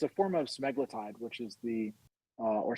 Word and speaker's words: semaglutide: Well, it's a form of semaglutide, which is or semaglutides, as some people pronounce it.